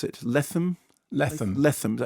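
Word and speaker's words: Lethem: Adapted from a novel by, is it Jonathan Latham? Is that how you pronounce it? Latham. Is that how you say it? Latham.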